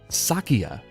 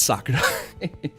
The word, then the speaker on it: Sakiya: named keru Sakurai yes I said his name wrong Sakia not Sakurai see true waken base